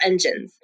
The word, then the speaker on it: ENGENE: They're going to call their fandom is called Engine, Engene. So it's spelled interesting, but they're called engines.